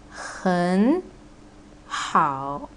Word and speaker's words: 很好: So here is 很 and 好. Both are the third tone, right? So you need to change the first syllable into the second tone, which is gonna be 很好.